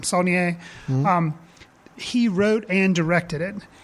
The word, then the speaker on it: Saulnier: Saulnier.